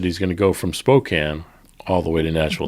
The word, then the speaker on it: Spokane: KGC says we got to go to Spokane.